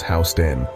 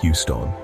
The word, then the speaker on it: Houston: Next up is Soho, short for south of Houston Street, spelled like the city in Texas but pronounced by locals as Houston, not Houston.